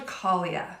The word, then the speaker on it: Caglia: I'm Angela Caglia. The G is silent, like lasagna.